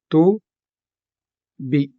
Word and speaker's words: tubi: Also note that these vowels at the end of the open syllable may either be soft or hard. Just like the O in kalayo. Kalayo, which is a soft vowel ending, or the I in tubi, which is a hard vowel ending.